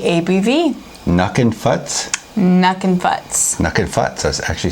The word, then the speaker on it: Nukin Futz: Nukin Futz.